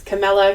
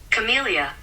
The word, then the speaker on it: Camellia: just have to look up at how to pronounce this correctly because um I wasn't quite sure it was Camilla Camellia here we are here's what Google says are you ready Camellia so that's what we're going with apparently Google